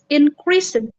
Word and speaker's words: increased: The company's profit increased. Nah, itu enggak increased. Increased. No, karena e-nya tidak diucapkan. Dan ini karena s karena s is voiceless. D-nya itu diucapkannya dengan t increased.